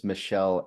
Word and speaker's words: Mychele: And for the people listening, it's Mychele, Mychele. If you're trying to find it, if you're Googling it, good luck. It's not Yeah. spelled like you think it's going to be spelled.